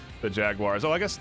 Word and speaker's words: Jaguares: It's spelled interestingly. Jaguares, it looks like, and I don't want to. Yeah, you don't say it like that. You say Jaguares.